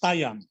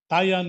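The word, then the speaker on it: Taian: will sign only the agreement if it is taiyan taiyan is spelled t-a-i-a-n in the japanese calendar it brings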